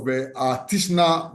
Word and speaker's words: Titchener: Look at the case of Tishner versus British Railways Board. Tishner is spelled TITCHENER, and British Railway Board.